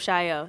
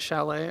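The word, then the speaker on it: Chaillot: Mad Woman of Chaio, CBT. I've been saying it wrong this whole time. I've been like Mad Woman of Chalet. I don't know. Mad Woman of Chilot.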